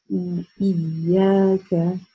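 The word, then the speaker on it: إياك: Первое слово это ИЯКА, ИЯКА.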